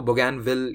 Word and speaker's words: Bougainville: नाम होगा बुगन व्हील अब यह थोड़ा सा आपको प्रोनाउंस करने में अजीब सा लगेगा क्योंकि इस नाम के पीछे की जो रूट्स हैं वह फ्रेंच हैं तो बुगन विल या कुछ और भी फ्रेंच जानने वाले उसे प्रोनाउंस कर सकते हैं मुझे जहां तक पता है इसका यही प्रोनंसिएशन सही है तो बुगन विल नाम